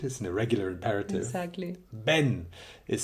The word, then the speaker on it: ven: the Bini it is an irregular imperative exactly Ben is spelled ven but because Spanish people pronounce the veers of B they say Ben so I would walk around the streets of